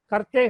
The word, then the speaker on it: करते: அதெல்லாம் சேர்த்து அந்த கர்த்தா கர்த்தே கர்த்தி வரும். அது டென்ஸ் வந்து எக்ஸ்பிளைன் பண்ணும்போது அது சொல்றேன். இப்போதைக்கு கர்த்தே கே கர்த்தே அப்படின்னு சொல்லணும். இந்த மிடில் லெட்டரை வந்து ஹாஃப் தான் ப்ரொனவுன்ஸ் பண்ணணும். கரத்தேன்னு சொல்லக்கூடாது, கே சொல்லக்கூடாது, கே கர்த்தே.